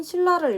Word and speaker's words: 신라: 다음 단어인 신라를 읽어봅시다. 신라 역시 신에 니은이 붙은 신이 아니라 신라 하면서 니은이 리을로 바뀌면서 소리가 나고 있어요.